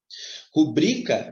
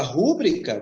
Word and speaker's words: rubrica: que não é assim rubrica não leva certo porque é uma paroxítona terminada em ar aprendemos ela no passado e se você falar rubrica você vai autorizar porque uma palavra proparoxíto é acentuada então observe a gravidade